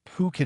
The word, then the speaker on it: Phuket: It wasn't until just about the end that I realized that I had been pronouncing Phuket as fuck it the entire time as I was reading my cards.